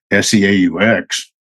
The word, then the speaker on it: Seaux: And then in the French Foreign Legion, I found that there's a word S-E-A-U-X, which would actually pronounce in French is Seaux.